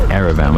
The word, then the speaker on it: Yerevan: It's spelled Yerevan in English, but it's pronounced Yerevan without the Y.